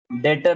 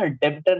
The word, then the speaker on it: debtor: डेटर होता है। Debtor. तो ये ना बी साइलेंट पढ़ना है, ध्यान रखना। कभी भी कोई पूछेगा ना, डेब्टर नहीं बोलना, डेटर बोल। B silent.